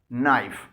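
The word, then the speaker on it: knife: पर खामोश होता है अगर किसी वर्ड में के के फौरी बाद एन आए यानी के एन एक साथ आए तो ऐसा के खामोश यानी साइलेंट होता है और सिर्फ एन की साउंड निकलती है ये इंग्लिश वर्ड देखें के एन आई एफ ई नाइफ इसमें के के फॉरन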